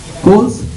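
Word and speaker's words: Coles: shopping uh fmcv here coals how do you spell it c o l e s it's like coals on the internet am I right right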